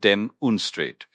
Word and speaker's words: demonstrate: And you pronounce it dem unstrate with the stress on the first syllable.